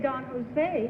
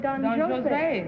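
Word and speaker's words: Don José: I didn't mispronounce anything you didn't say Don Jose you said Don Jose is that it is in the Opera it's French it's French you see it is not Spanish it's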